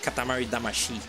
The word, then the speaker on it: Katamari Damacy: music they're singing like Katamari damashi it's uh that's the way that's pronounced originally this like the way